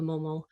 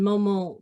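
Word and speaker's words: Maumont: And Momon, the two Momons mentioned in there, there was the old name, which is spelled M-O-M-O-N, and the new name, which is M-A-U-M-O-N-T.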